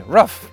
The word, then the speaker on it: roof: Some of you say roof like me, and some of you say rough like my dogs, and some, like my wife, use them interchangeably.